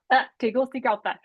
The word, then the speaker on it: Tegucigalpa: Jess, do you know how to say Tegucigalpa.